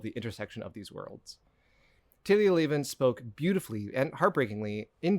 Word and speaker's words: Talia Lavin: So throughout this episode, I consistently mispronounce the name of this author. Her name is Talia Lavin. Talia Lavin.